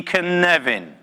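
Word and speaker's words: Cynefin: it's this funny little word here and it's pronounced can even say with me one two three can Nevin connect and Nevin it becomes a bit of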